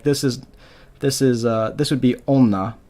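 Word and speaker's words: おんな: Wo has been changed to o. So in modern Japanese, you're not going to see them like this. It's going to be onna, it's going to be otoko, it's going to be otome. It's not going to be wotome, wonna, or wotoko.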